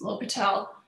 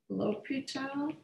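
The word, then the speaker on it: L'Hôpital: l apostrophe loss hospitals it's low patel sometimes uh people spell it uh or lopita it's rule he spelled it with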